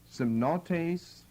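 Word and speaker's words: σεμνότης: It's translated gravity, semnotes, very similar to this, as you can hear. Semnos, semnotes. S-E-M-N-O-T, long E, pronounced like a long A, an eta, and then an S.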